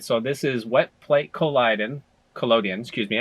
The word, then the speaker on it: collodion: So this is wet plate collodion. Excuse me. I need to say it correctly with this. It's collodion.